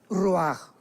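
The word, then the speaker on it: ruach: parte espiritual que es la palabra roach, que se pronuncia roaj.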